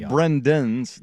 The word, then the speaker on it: Brendan: No, I've heard of Brendan's like den.